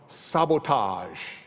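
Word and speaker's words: SBTG: his own brand name sb T G pronounced sabotage you would never have guessed but it works it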